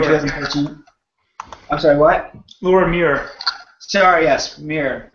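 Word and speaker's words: Muir: think the winner might be Great Britain's Laura Weir uh she had huge Improvement 201 I'm sorry what Laura Mir sorry yes Mir mispronouncing her last name uh but she had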